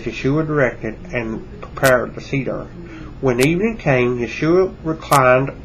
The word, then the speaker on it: Seder: Seder spelled S-E-D-E-R.